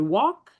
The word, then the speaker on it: walk: It's saying a that L and K, a student has to know that the L is silent.